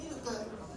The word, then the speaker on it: 369: られた際はバーミルク 369 って書いてミルクって読むんですけどよかっ